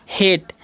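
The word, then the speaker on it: hate: तो इसे हम क्या पढ़ते हैं? हेट। ठीक है? इसे हार्टे नहीं पढ़ना है क्योंकि यहां पर भी वही रूल लागू होगा।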